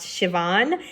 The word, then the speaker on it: Siobhan: The main character, I pronounced her name wrong, I believe is pronounced Siobhan, and I did say it wrong.